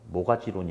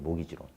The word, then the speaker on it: 모기지론: 그래서 이 T가 묵음이에요. 그래서 모가지론이 아니고 모기지론이라고 그래요. 모기지론.